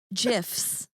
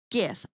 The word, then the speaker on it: GIF: GIFs.